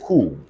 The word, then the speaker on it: coup: oh let's go on we also find it silence in c-o-u-p everybody say cool the full word is coup d'etat it's a French word everybody say cool it's